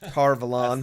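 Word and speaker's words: Tar Valon: that Egwene and Perrin, finally make it to Tarvalon or what, however you say it, Tarvalon. That's our current show pronunciation.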